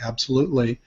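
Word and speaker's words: Absolutelee: My handle is at absolutely, that's spelled like the word absolutely, except it's my name at the end, L-E-E, absolutely.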